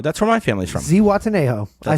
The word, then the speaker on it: Zihuatanejo: Zihuatanejo. I said it right. And it's spelled crazy.